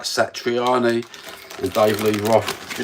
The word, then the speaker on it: Satriani: Satriani and Dave Lee Roth.